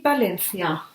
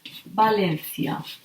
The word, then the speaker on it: Valencia: V is pronounced like B. They have the same pronunciation. It's like two different written letters, but it's the same sound. For example, we can say Valencia, a Spanish city.